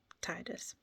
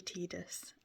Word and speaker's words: Tidus: Um I will just say before we start, I do pronounce it Titus. I know I know it's supposed to be Tidus. Um I can't I can't call him Tidus. It doesn't feel right to me. Um reading in the English language, um the the way that we would pronounce it the the way it feels natural to pronounce it is Titus.